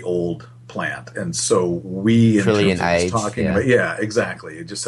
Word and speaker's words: Trillionage: And, you know, and then we just always pronounced it like trillionage, so because it sort of sounds like a plant that way.